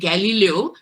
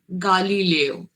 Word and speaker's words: Galileo: বলা হচ্ছিল তখন যে the pronunciation is not exactly Galileo, it should be pronounced as Galileo.